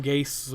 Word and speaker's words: Gase: works that way no he's Adam GaSe with an se but pronounced gays and now he has